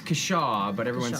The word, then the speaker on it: Kashaw: Cashew? Those things are Depends who fishes in you real ask. life. It's Kashaw, but everyone Kashaw. says Kashaw I'm or gonna say Cashew or Kashaw.